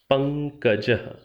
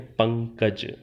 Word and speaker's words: पंकजः: ने सुना हुआ है, पंकजः। आप सामान्य रूप से हिंदी में शायद इतना ही कहते हैं, पंकज। ये जो पंकज शब्द है, संस्कृत में इसका उच्चारण जैसे मैं कर रहा हूँ, पंकजः विसर्गांत। ये जो शब्द आपने सुना